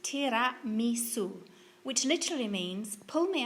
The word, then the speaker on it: Tiramisu: Tiramisu is actually pronounced Tiramisu, which literally means pull me up or lift me up.